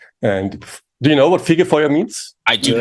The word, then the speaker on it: Fegefeuer: like you said it's I'm gonna try and pronounce it Sega Fowler almost it's figure foyer okay close enough yeah it's